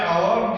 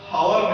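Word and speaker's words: hour: फिर बच्चों उसके बाद ए फुटबॉल प्लेयर एन आवर, क्योंकि बच्चों यहाँ पे आवर दिया गया है, आवर का प्रोनाउंसिएशन ओ यू आर, हावर नहीं होता है, ठीक है बच्चों।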